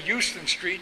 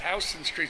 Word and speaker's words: Houston Street: New York City and you say Uslan Street you're gonna let them know right away you're from out of town it's Houston Street spelled the same way but it's house industry so there playing boccie